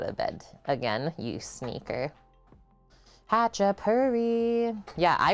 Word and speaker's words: Khachapuri: georgia too i guess hacha purry thank you for telling me that the k is silent which i wouldn't have known we're making hachipari today